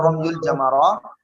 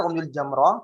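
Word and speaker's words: رمي الجمرة: Naam, romyul atau romyul jamarah. Nah, ini dibacanya romyul jamrah.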